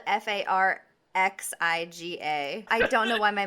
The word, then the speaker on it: Farxiga: texted me the other prescription that they love farxiga the tuna and farxiga honey it's on are